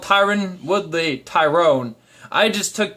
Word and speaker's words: Tyron: was commentating called in tyrone so I figured that was the the pronunciation but it's Tyron Tyron not Tyrone Tyrann apologies for that my mistake his name is tyron and not Tyrone but imagine the new